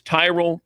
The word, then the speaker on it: Tyrol: It's Tyrell Pickleball Shoes. You spell it Tyrol.